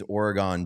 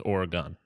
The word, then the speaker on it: Oregon: It is Oregon, not Oregon. gun. It's like it's more of a G-U-N-G-I-N sound.